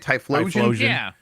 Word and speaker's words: Typhlosion: One particular story, I guess this is from the lore, about Typhlosion. Is that how you say it? Typhlosion?